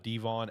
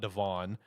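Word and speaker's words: De'Von: to him before, but it's uh Devon Achain, not Devon.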